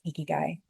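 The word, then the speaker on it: ikigai: Have you guys ever heard of uh I think it's Oh gosh, how do I pronounce it? Eeky guy. I think it's eeky guy.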